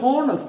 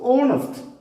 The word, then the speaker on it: honest: This is not honest, this is honest. H is silent here.